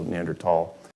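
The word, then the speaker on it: Neanderthal: Homo habilis neander um the Germans pronounce it with a hard T like my last name so neander tall that's how I pronounce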